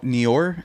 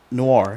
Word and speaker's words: noir: into Batman, the anime Neor, is that how you say it? Yeah. Yeah. Uh noir. Noir. Noir. Yeah. It's not very neo. It's more Noir.